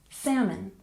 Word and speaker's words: salmon: on the first syllable this is another word where we don't pronounce the l in the word we say salmon salmon not salmon salmon